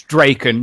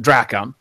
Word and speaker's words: Drakon: It's Drakon, not Drakon. Because that's how it's pronounced, according to Wrongdigger himself.